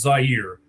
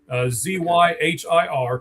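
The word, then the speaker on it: Zyhir: Uh I I hear a lot of people mispronouncing his name, by the way. It really is Zire. Zy Hir.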